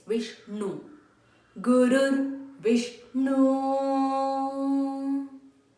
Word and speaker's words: Vishnu: here repeat three times when you're pronouncing the na your tongue has to touch the upper portion of your mouth no it's not Vish no it's Vishnu Guru wish no